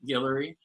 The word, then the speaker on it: Guillory: name is dr guillory it's pronounced like hillary but with a g guillory i am a child